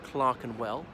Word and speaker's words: Clerkenwell: it's belt Clerkenwell but it's pronounced Clark and well you know where the